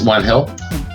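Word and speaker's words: Juan Gil: It's spelled Gill, but it's One Hill because it's Spanish, right?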